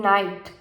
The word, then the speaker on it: night: say Iceland right next the K in night is silent similarly as the K